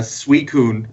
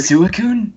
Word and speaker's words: Suicune: like the first time you hear someone say sweet Koon and you're like wait wait what it's not the suicune yeah yeah I could see someone like him